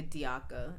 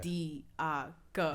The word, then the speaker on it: Diakha: Diakha. It's not that hard. 3 syllables. Right, it's not that hard. Diakha.